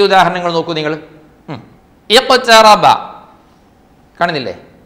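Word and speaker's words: اقْتَرَبَ: ഇഖ്തറബ കാണുന്നില്ലേ, ആ ഒരു സൂറത്തിൻ്റെ തുടക്കം തന്നെ അങ്ങനെയാ. അഖ്തറബ അല്ല, ഇഖ്തറബ.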